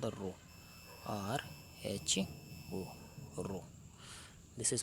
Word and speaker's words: rho: A constant come into picture, and this constant we call rho. This constant is called the rho, RHO, rho. This is pronounced as rho, and it is called the resistivity of the conductor.